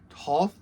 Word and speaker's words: Toht: Today I'm going to be doing my review of Major Arnold, and I believe that the last name is pronounced Toht, from the new Indiana Jones toy line.